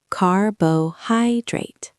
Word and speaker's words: carbohydrate: Pronunciation lab word stress Word one carbohydrate Stress on the third syllable. Listen. carbohydrate Repeat.